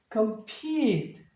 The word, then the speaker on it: compete: 따라서 발음이 compete, compete 약간 길게 해주셔야겠죠?